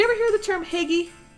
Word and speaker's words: hygge: hear the term higgy do you ever hear the term piggy it's a danish word for happiness it's what people they they just they talk about creating higgy in the home and i pronouncing it totally wrong okay totally getting